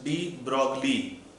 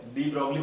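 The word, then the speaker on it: de Broglie: Pronounce डी ब्रॉगली, वही तो है, डी ब्रॉगली पढ़ेंगे इसको।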